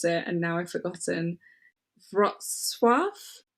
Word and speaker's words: Wrocław: Wrocław. It's spelled Wroclaw. Yeah. Yeah. It's not Warsaw? No, don't worry. You do you. Let me just... Wrocław is what Google has just told me.